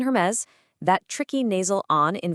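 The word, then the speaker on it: Hermès: Just remember, silent H in Hermes, that tricky nasal on in Vuitton, the hard G in Gucci, and of course, that surprising U sound in Bulgari.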